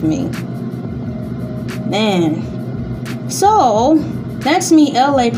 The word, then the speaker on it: Elay: So that's me, Elay, pronounced like LA, like the city.